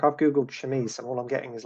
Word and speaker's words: chemise: It's a Victorian chemise or chemise. Chemise. Yeah, Chemise. Yeah. Yeah, une chemise. Basically, it's French.